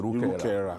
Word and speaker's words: Irukara: I know Babatunde Irukara very well. That's the pronunciation of his name. Irukara.